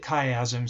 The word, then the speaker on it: chiasm: actually called the optic chiasm that's how you pronounce this right here the optic chiasm so that is where our field of you